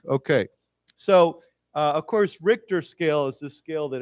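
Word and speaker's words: Richter: Juan after an earthquake measuring 7.2 on the RoR scale struck the country on Wednesday last week okay so uh of course RoR scale is the scale that everybody uses for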